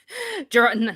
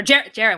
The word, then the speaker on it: Jared: Gerard, not to interrupt, but Gerard said, or Jared, why do I keep calling Gerard? Because it's the way it's spelled. Hi, Jared.